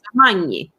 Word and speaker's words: Magni: Yeah, I always try to teach people by like the GN. I mean, it depends if you know how to pronounce gnocchi, like the pasta. That usually helps people. I barely know how to pronounce gnocchi. Yeah, like a lot of people like say gnocchis or whatever they say. That's incorrect. It's nya, like a nya sound.